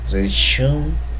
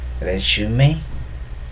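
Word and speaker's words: résumé: Words like resume, resume, and epitome are wrongly pronounced as resume and epitome, whereas the correct pronunciation are resume and epitome, respectively.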